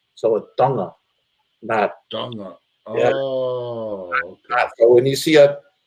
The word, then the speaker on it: Tonga: uh when people say Tonga they say it with a t but it's actually it's actually pronounced it's actually uh it's spelled with a t but it's pronounced with a d so a dunga so when you see